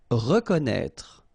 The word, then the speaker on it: reconnaître: Reconnaître. So exactly the same thing with this accent circonflexe on the top of E. You don't pronounce it, okay, but you should write it.